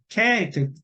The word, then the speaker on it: character: 예, character. 키읔 발음 나죠.